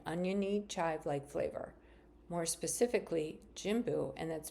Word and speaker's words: Jimbu: Opened in spring of 2023, Jimbu is named after an aromatic herb that resembles grass and is native to Nepal.